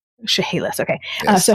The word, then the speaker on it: Chehalis: so you guys can tell me how to pronounce that tribe's name, because I'm going to say it wrong. Chehalis. Chehalis, okay.